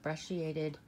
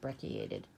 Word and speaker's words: brecciated: We're going to talk about brecciated jasper. It can also be pronounced brecciated.